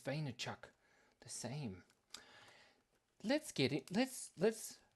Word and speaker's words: Vaynerchuk: fantastic Easter uh Avi e maybe they say pronounce it v e it's vaynerchuk same let's get it let's let's let's let's